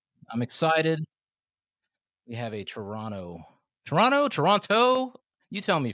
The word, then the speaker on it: Toronto: We have a Toronto. Toronto. Toronto. You tell me. Fresh. You said it right the first time. Don't pronounce the last T. Toronto.